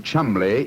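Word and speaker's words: Cholmondeley: reason to know that the name Chumley is in no way pronounced the way it is spelt John never thought of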